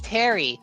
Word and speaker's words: Pteri: To all the viewers at home, the P in my name is silent and so when I was telling my friends about it, a lot of them were like uh is it Terrier Pterodactyl? I'm like, no, it's Terry.